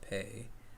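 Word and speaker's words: Pei: name i believe is pay it's okay how's this it's spelled p-e-i but yeah it's pronounced pay okay books going or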